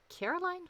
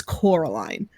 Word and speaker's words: Coraline: Also, Noah was wondering, Bliss, are you gonna do a review of Caroline?